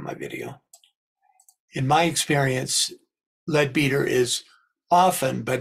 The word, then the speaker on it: Leadbeater: I've heard his name pronounced Leadbetter, Leadbeater, Leadbetter, so it's your choice. I've heard the English pronounce it Leadbeater. I kind of have settled with Leadbeater. I think that's the most common use, So at any rate,